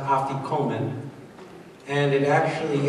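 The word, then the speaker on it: afikoman: matah that you wrapped in the napkin is pronounced aian and it actually it's a Greek word that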